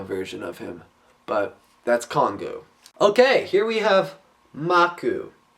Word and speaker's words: Kongu: a Nika which is Congo you okay Kong all right kongu and his name is